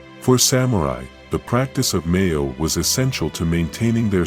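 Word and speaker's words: 名誉: Pronounced, Meiyo.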